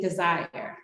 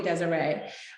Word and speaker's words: Desire: of you don't know my mother named me desire desire is my biological name however it is spelled with an s just like the word desire but for some reason people always want to call me desiree um one of the